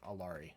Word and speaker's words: Alari: however we want to, Alari. That's how we're gonna pronounce it.